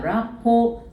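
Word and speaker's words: rapport: 라포. 라포. 라포. 요 스펠링 한번 따라해 볼까요?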